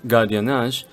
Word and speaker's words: gardiennage: In this case, the G is pronounced with a G sound if the next letter is an A, O, or U, so you get the other sound if there's an E or I. Therefore, gardiennage because of A, and gestionnaire because of the E.